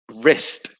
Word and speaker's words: wrist: And for number 6, it is again the W, wrist.